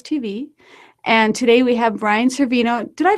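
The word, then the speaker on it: Brian Cervino: of web tools TV and today we have Brian Cino did I pronounce that correctly Bri you got it from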